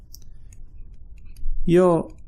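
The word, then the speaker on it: 四時: Now, 4 o'clock is a little bit different. The pronunciation, that is. That's pronounced yo-ji. Yo-ji.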